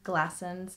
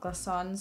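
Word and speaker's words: Glassons: used to work there it's called glaston's not glossons so i've been saying it wrong this whole time but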